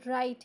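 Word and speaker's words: write: हम यही करते हैं राइट की स्पेलिंग तो डब्ल्यू आर आई टी ई है लेकिन हम इसको पढ़ते राइट है जैसे कि आर आई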